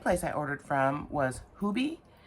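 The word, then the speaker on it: Hobii: The second place I ordered from was Hubie. H O B I I. It's pronounced Hubie because that's how they pronounce it over there.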